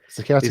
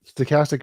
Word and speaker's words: stochastic: Stochastic says random. Huh? Stochastic means random.